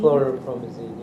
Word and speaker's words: chlorpromazine: Chlorpromazine, yeah.